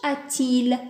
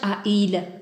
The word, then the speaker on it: a-t-il: avoir le sent-il bien on peut pas dire quel âge a il a il c'est lourd voilà de préférence quel âge a-t-il voilà donc la réponse